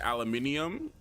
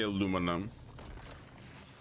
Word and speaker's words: aluminium: if you guys noticed, the way that I pronounce the word aluminum depends on whether my my g American accent decides whether it wants to come out. Like sometimes I'll say aluminium and then sometimes I'll say aluminum.